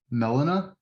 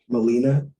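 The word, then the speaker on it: Melina: say her name but is it melania do you know what i'm talking about molina molina yeah molina i just spoke with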